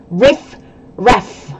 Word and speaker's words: riffraff: the next expression is a little difficult to pronounce because there's r and f sounds right riff ref good job what does